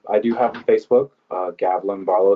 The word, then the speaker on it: Gavlin: who do pronounce it it's like javelin but with the G so Gavilan spelled as is Barl